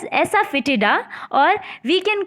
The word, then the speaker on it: asafoetida: You can pronounce it as asafoetida, or we can call it as hing in Hindi.